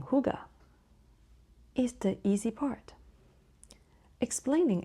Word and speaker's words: hygge: But the correct pronunciation is huga. It is actually huga.